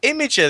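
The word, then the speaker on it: Imgur: so what in Inga I've been calling it imager this whole time well M I'm I'm I'm an old man I don't know what the anything's called it is meant to be pronounced imager but you know like I don't know what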